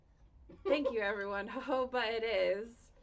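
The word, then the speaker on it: jojoba: Um, Joja oil. I think it's pronounced hoba.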